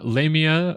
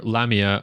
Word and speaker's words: Lamia: Lamia or Lamia are both correct pronunciations recognized as so.